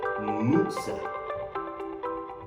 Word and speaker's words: Moser: The text said Moser or Moser, but in the German pronunciation, it is actually Moser.